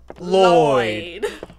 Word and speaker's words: Lloyd: so disgusting wow Hello Lord is that you it's pronounced Lloyd we've been saying it wrong all the oh my